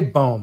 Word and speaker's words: Boehm: I say Boehm, like Boehm? Yeah. Like someone that's mispronouncing poem. Yeah, Boehm. Like poem.